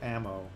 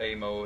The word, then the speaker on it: Aamo: way to pronounce uh aamo because that's the debate going on right now you just say ammo like bullets ammo yeah it's not amo it's uh like munitions ammo yeah a funny funny